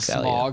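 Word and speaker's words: Smaug: a lot smog one got cut.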